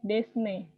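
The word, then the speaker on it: です: Ini desu ini dibaca jangan desu, tapi desne. Desne, S-nya mati, desne.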